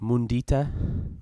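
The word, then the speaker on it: mudita: me of a word from Sanskrit, and it's pronounced mundita, and it means experiencing vicarious joy.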